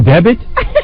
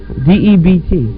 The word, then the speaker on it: debt: A special debit? Debit? Spell the word. D-E-B-T. All right, now spell it out. Sound it out. Debt. What is that word, D-E-B-T? Debt. Debt. Debt. Debit.